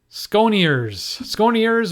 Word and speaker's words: Sconiers: Sconiers, or the French Sconiers. I'm from Canada, so I pronounce this in the French pronunciation. But he's probably Sconiers. I imagine that's how he pronounces his name.